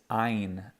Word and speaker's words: Ayin: This letter is Ayin. Ayin. And Ayin is also, just like the Aleph, we're going to treat it as a silent letter, okay?